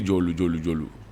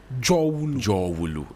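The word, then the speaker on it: Dzorwulu: That's what Jowulu. They will just say it fast. No, but it's Jowulu. people say Jolu. It's Jowulu, the Great Valley. Jowulu.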